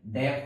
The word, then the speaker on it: deaf: जैसे DEAF डेफ हो गया बहरा होना, GELEOUS जेलस हो गया